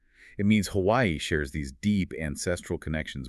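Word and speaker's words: Hawaiʻi: they get into the Hawaiian pronunciation Hawaii. It's all about that little mark between the two eyes. It's called an Okina. And it's not just decoration. It signals a glottle stop.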